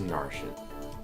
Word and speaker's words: Narcian: Oh, so I guess it actually is Narcian.